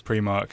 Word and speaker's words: Primark: a definite is that like confirmed cannon I pronounced yes I'm pretty certain Primark is cannon I think where I come from it's pre mark what when you're black you got to shop